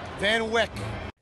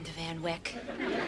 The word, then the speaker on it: Van Wyck: 678 but mostly known to locals as Van Van Wyck I'll call it interstate 678 today on the